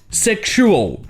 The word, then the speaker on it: sexual: Par exemple, dans le mot sexual, le X se prononce ksh, sexual.